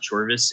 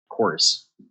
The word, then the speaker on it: Chorus: It's not Chorvis, it's Chorus.